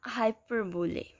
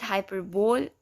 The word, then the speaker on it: hyperbole: Next we have hyperbole. You can pronounce it as hyperbole or hyperbole.